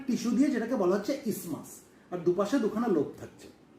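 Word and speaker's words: isthmus: যদিও এর স্পেলিং হচ্ছে আই এসটি এম ইউ এস। এই টিএইচটা সাইলেন্ট থাকে। তাহলে আমরা এটাকে ইসতেমাস বলবো না। আমরা কি বলব? আমরা ইসমাস বলব।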